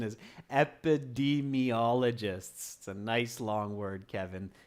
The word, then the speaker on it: epidemiologists: the D me ologist sorry students the correct pronunciation is epidemiologists a nice long word Kevin epidemiologists okay flower son says I think keys are